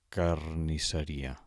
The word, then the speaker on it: carnisseria: Posem, per exemple, la paraula carnisseria. Carnisseria. Quina seria la tònica? Carnisseria. Ri és la síl·laba pronunciada amb més força.